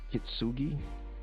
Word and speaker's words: Kintsugi: I can't even pronounce this. Kintsugi?